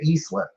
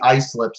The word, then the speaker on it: Islip: was supposed to say eastlip so i was a little surprised to see ice slips i guess it's pronounced like island but there you go